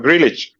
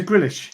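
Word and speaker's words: Grealish: and he's going to tell us how to pronounce it properly which one grillage yeah yeah that is a grillish i always grillage yeah uh i always like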